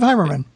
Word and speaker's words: Heimerman: I was going to say, I thought I was pronouncing it incorrectly the entire time. No, you got it. Heimerman.